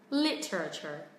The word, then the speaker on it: literature: Temple. Temple of Literature. Literature. Trọng âm thứ nhất các bạn nhé.